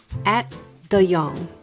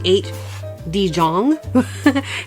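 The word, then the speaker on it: Ate de Jong: Fred 1991 directed by I'm going to try this at the Yong. He he he's uh it's it's a Dutch name. Okay. It is not how it's spelled cuz I would say at D Jang, but I had to look it up.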